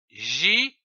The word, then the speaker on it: girafe: Nous avons vu la syllabe J, G-I-J. Prenons une autre syllabe comme par exemple ra, R-A, ra, ou encore feu, F-E, feu. L'association de ces trois syllabes donne le mot girafe, comme une girafe.